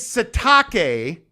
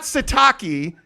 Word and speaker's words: Sitake: wait I gotta ask you about the name pronunciation thing his name is satake not sataki and apparently he won't correct people on that